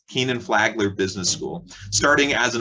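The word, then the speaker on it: Kenan-Flagler: canon flight flight how do you say that kenneth flagler keenan flagler business school starting as an undergraduate flickinger also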